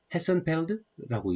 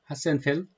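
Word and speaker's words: Hasenfeld: 헤센펠드라고 읽어야 되나요? 하센펠드. 조직 간 유형에 있어서 첫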